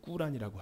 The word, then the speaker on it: 꾸란: 이제 인천에 이제 어마어마하게 많은 인터내셔널 무슬림들이 올 텐데, 코란, 그들의 발음은 꾸란이라고 하죠.